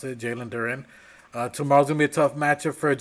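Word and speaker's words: Jalen Duren: Uh Jaylen Duran or whatever you however you want to pronounce it. Jaylen Duren.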